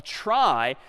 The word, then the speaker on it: trie: be a gotcha a try is sort of a fancier tree and it's short for retrieval but pronounced try for weird historical reasons but a try is